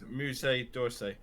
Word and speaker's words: Musée d'Orsay: How do you spell it? Musseedorsay. Jeff, if you would be so kind. It's Musée d'Orsay.